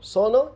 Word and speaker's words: sono: These geminated consonants still exist in italian nowadays, as in "trattoria", we also have "sonno" (desire for sleep), which is different from "sono" (I am).